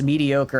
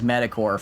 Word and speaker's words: mediocre: I pronounce I pronounce mediocre as metacore for the first 23 years of my life until you all helpfully called me an idiot for pronouncing it as metacore instead of mediocre.